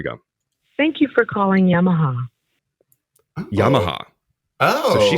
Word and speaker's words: Yamaha: thank you for calling Yamaha Yamaha oh so she said Yamaha that's what I mean the inflection is different on the second syllable let hear it again